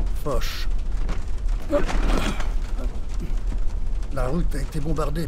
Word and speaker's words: Foch: Doit-on le prononcer Foch ou Foch? Foch.